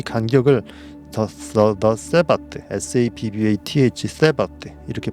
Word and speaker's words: Sabbath: 이 간격을 the Sabbath, S-A-B-B-A-T-H, Sabbath 이렇게 발음하는데 안식일이라고 부릅니다.